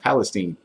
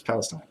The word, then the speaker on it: Palestine: I always want to say Palestine, like we're in the Middle East or something, but it's Palestine. Palestine.